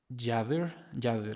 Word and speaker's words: Yader: Se pronuncia como Yader, ok, Yader. Bueno, así hablándolo como español, o sea, como si fuera español, diríamos Yader. Ok, Yader, pues un gusto que estés aquí, les agradezco mucho.